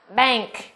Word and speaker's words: bank: Trường thứ nhất là cái chữ cái n của chúng ta được phát âm là âm ng. Nếu như chữ n đó đứng trước âm k hoặc là âm g mà chúng ta học trước đây.